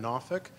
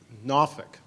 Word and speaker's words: Norfolk: in Norfolk you've heard probably heard about 27 different pronunciations unless you're a look Norfolk Norfolk exact that's good enough yeah it takes you a while if you hear anybody say Norfolk you know they are not from around here so I'd like